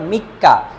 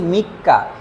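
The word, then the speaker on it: 三日: আবার মনে করেন যে এই সান শব্দটা লিখে এরপরে যদি নিচির কাঞ্জি লিখি, নিচি, তাহলে এই উচ্চারণটা হবে এবার মিক্কা। তাহলে এখানে বলছি মিক্কা, এখানে বলছি সান নিন।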